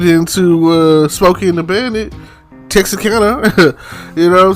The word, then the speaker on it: Texarkana: I'm going as far as Texarkana. And I have to say it that way because that's how they say it in the movies. Everybody knows that's not how you say it when you're from here.